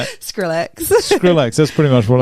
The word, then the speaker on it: Skrillex: No, because I'm old and trust me, Skillrex I listen- has Bangarang, and that's the only Just song. say that one again. Who is it? Skrillex. I don't know. How do you say it? Skrillex.